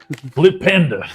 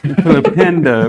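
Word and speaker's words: Flipendo: I put my hand on his shoulder and go, "You got to say it like this too, Flipenda." Flipenda with the UH in the end.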